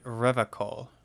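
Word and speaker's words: Revachol: his feet he pronounces rivercon with a hard k unlike other people you said rev a call i like to pronounce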